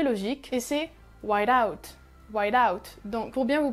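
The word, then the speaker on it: white-out: et ses ouailles doubt whiteout donc pour bien vous prononcer chaque mot c'est white la couleur blanche du coup ensuite vous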